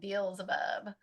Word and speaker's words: Beelzebub: Beelzebub. That's how you say it, Beelzebub, because we'll see why.